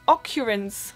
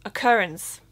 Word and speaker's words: occurrence: but this is pronounced occurrence again just different emphasis on the syllable and the last one